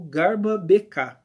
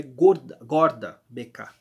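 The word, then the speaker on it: Gårda BK: Suécia que é o garba BK tá ele jogou nesse time guarda perdão ele jogou nesse time o sueco na verdade a pronúncia mais correta desse nome é meio é gorda gorda BK Tá bom mas é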